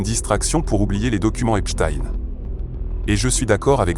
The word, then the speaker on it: Epstein: Et je sais que certains d'entre vous écrivent aussi au sujet de la prononciation mais on dit bien Epstein.